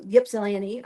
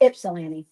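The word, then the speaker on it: Ypsilanti: And you guys know I was like for the week past two weeks I've been in um Yipsilani. Um well my daughter said I'm saying it wrong. Ipsilani Michigan taking care of her.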